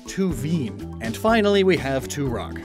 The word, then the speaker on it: Tuvine: it's actually crystal type it's named after minerals that end in veen like olivine which has the same coloration as tuvine i mean tuveen and finally we have